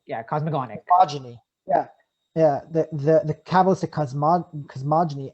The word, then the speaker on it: cosmogonic: How do you pronounce cosmogenic? Yeah, cosmogonic.